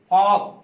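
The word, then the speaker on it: folk: फिर उसके बाद है एफ ओ एल के फॉक, फॉक मतलब क्या होता है लोगों का समूह, जन समूह, फॉक पढ़ेंगे एल साइलेंट हो गया, फॉक लोगों का जन समूह।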